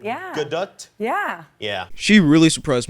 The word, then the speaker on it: Gadot: Gadot. More T at the end. Yeah. Gadot?